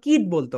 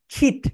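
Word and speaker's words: kit: কিট বলতো। রং pronunciation, এটা right pronunciation হবে খিট।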